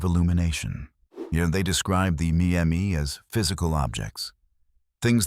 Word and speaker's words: Me: The Sumerian concept of the Me, pronounced May, is one of the most haunting ideas in all of ancient literature.